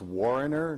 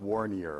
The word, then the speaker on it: Warner: Booing when you hear my name, and Mark, I've known you for 25 years, it's pronounced Warner, not Warnier, okay?